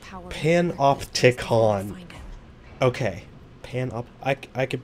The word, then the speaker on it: panopticon: how you pronounce it panopticon pan off tick on okay pan up i